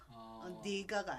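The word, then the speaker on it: 네가: 이거는 읽을 때 니라고 읽어요. 니가가 아니에요. 니가. 그러니까 내가 아니고 내가가 아니고 니가. 그냥 니가. 네 뜻대로 해. 내 뜻대로 해가 아니에요. 네 뜻대로 해라. 이게 그 문어체라 그러죠?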